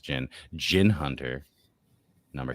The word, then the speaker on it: Djinn: I think it's pronounced Jin.